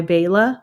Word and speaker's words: Beila: But this song is called Cemeteries, and it's by Beila, but it's spelled b e i l a.